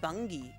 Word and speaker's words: Bungie: It's actually pronounced bungy.